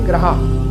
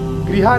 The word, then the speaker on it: ग्रहा: सर्वे ग्रहा, ग्रहा या फिर गृहा मत बोलिएगा, सर्वे ग्रहा शांतिकरा भवन्तु यही उच्चारण करना है।